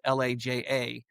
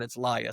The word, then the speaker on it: Laja: So it looks like PEP but it's pronounced PEP. And then LIA is L A J A. Looks like Laja but it's Lia.